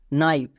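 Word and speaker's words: knife: এর জন্য হস্বীকার হই নেক্সট নাইফ এখানেও দেখো কে এর পরে এন আছে তার মানে কে silent N আই এফ ই নাইভ হচ্ছে তো খুবই সিম্পল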